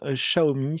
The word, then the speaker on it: Xiaomi: ne savent toujours pas la marque xiaomi se prononcent chahoumi c'est pas compliqué c'est comme un chat haut et plus loin la mi temps cette